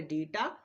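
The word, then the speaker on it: debt: নেই কি বললাম হ্যাঁ ওয়ার্ডের মধ্যে বা সে বিটি থাকলে আমরা বি এর উচ্চারণ করব না উদাহরণ দেখো ডেট ইনডেটিট ডাউট তিনটা বানানেই আমরা বি এবং টি কে পাশাপাশি পাচ্ছি।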